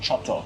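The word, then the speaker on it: coto: But then over here, they've replaced the S with C, and then C is pronounced ch. So it's like choto, and I'm not sure why.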